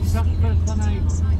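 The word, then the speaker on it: Stratford-upon-Avon: We were thinking of going to Stratford upon Avon. Am I saying that funny? Stratford upon Avon.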